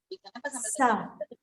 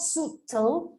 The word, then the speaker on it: subtle: over here sorry here subtle subtle subtle it's not it's not suitable it's exactly yeah so